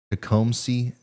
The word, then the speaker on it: Tecumseh: and city name wrong it's Lenova County to come see Tecumseh Michigan here's your prepayments all